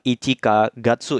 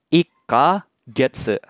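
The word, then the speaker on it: 一か月: kemudian ditambah kanji bulan, maka dibacanya bukan ichika gatsu ya minasang, tapi dibacanya seperti ini. Ika getsu. Jadi kanji bulannya dibaca getsu.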